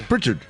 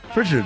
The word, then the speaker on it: Pritchard: Why do you pronounce his name like that? Kevin Pritchard. Pritchard. I'm not good at this. Pritchard. You know you're doing the Star Trek thing. Picard. It's Captain Pritchard. Picard.